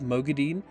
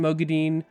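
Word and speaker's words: Moghedien: gideon now i think it sounds better than mogadine so i'm saying mergidian but i'm like can they not just kind of ah it's really annoying like if it's a fantasy word pick a pronunciation stick to it you know what i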